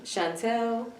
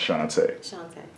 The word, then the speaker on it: Shantá: okay so let me hear you say it shantae how is it spelled s-h-a-n-t-a okay and do